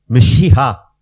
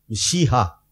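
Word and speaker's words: ܡܫܝܚܐ: Et en araméen c'est Meshiha. Meshiha. On ne prononce presque pas le E là, de me. Donc ils écrivent un petit E, Meshiha.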